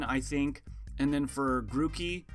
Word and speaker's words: Grookey: And then for Grookey, or Groki, because the double O, I believe in Japanese, is O, like grow monkey, like grass monkey.